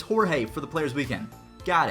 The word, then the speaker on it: Jorge: relevant maybe that's why and then the rest of these we have hor hor a Jorge Jorge for Jorge okay so it's not George it's Jorge for the players weekend